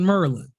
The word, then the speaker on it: Maryland: I've been pronouncing it Maryland all these years, so people call it Merlin. Yeah, you just heard me say it. Y'all say Merlin, and when I'm up